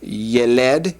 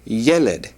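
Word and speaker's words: ילד: And once again, the accent is on the first, penult there. And so instead of yeled, it'd be yeled. Yeled.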